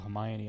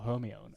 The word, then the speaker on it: Hermione: very important character introduced Hermione Emma Watson now it wasn't until the films that I realized she was called Hermione and not Hermione and I don't think